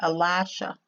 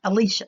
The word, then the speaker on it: Elisha: said and to Elisha some people pronounce that Elijah Elisha Elisha that's it I'll ask what Elijah